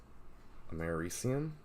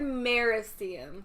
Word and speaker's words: Americium: How do you say it, smartass? Americium. Is that what I said? Speak up for the mic. I heard Mericium.